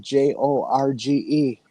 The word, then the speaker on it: Jorge: In in Mexico, the J is often pronounced as an H.